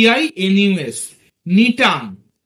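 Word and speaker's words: Gnetum: cycas C ওয়াই সি এ cycas গাছ Pinus P আই এন ইউ এস নিটাম জি এনই টি ইউ এম উচ্চারণটা নিটাম ইত্যাদি তারপরধর ধর এনজিওস্পারম যাদেরকে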